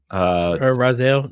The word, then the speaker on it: Raziel: Raziel, yeah.